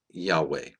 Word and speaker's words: Yahweh: the Christian Church testify that the name was pronounced Yahweh. As the verse in Psalms stated, his name shall endure forever. Isaiah chapter 12 verse 4 states, "And in that day shall ye say, Praise Yahweh, call upon his name, declare his doings among